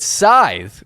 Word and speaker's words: Scythe: I'm very excited to get into this and prove beyond a shadow of a doubt that Scythe, which is in fact the correct pronunciation of the game, Scythe is a liar.